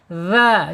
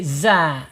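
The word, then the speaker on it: ذ: Secara makhraj dzal ini ada di alisan ujung lidah menyentuh ujung gigi seri dza. Keluarkan lidahnya sedikit ya biar tidak jadi za gitu. Kalau zaai itu zai jadi beda ya makhrajnya nanti beda.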